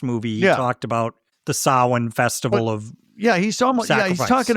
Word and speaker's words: Samhain: The festival of Samhain. Samhain, everyone. Dr. Loomis. And I think full of you have an Irish actor here, so he's probably like, I am not pronouncing it Sam Hain.